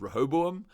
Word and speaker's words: Rehoboam: architect of some data prediction algorithm thing called Rehoboam, and Bernard is on the run. I tried to spell that.